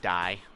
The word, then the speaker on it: Di: And yes, I do pronounce her name Dai, because, you know, it sounds a lot more metal than day.